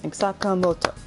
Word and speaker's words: Sakamoto: get any emphasis like say it like you clap your hand like it's just those simple beats sakamoto takamaki like that oh kasumi i mean